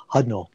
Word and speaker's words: Hudnall: teamed up with writer James, how do you pronounce Hudnall? Hudnall.